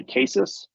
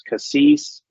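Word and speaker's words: CASIS: for that is c-a-s-i-s we tend to stay cases but depending on which part of the U.S I'm in or which country I'm in it's Cassis it's cases it's different pronunciations none of them are wrong all of them are right doesn't matter how you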